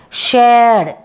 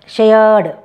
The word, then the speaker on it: shared: begged agreed next is shared shaya diphthong shaya r is silent here okay shared called okay called okay